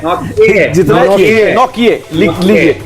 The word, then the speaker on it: Nortje: लिखते कुछ है, बोलते कुछ है। ANRICHNORTJE, एनरिच नॉट जे है, लेकिन इनको बुला जाता है एनरिक नोकिया। तो ये है नौकिए।